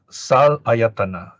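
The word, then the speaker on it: saḷāyatana: Okay, so sal ayatana, we pronounce as salayatana. Okay, sal is a special form of six. Sat, where it's close to English six, and then ayatana, sense basis.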